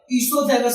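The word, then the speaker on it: oesophagus: Okay, इसोफेगस जिसका दूसरा नाम फूड पाइप भी है, और इसका जो स्पेलिंग आप देख सकते हैं ओ से स्टार्ट है, लेकिन ओ इसमें साइलेंट होता है।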